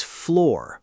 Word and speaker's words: floor: It is floor rhyming with door.